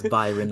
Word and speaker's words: Byron: It's not Brian. Yeah. This isn't Tekken. It's Byron, not Brian.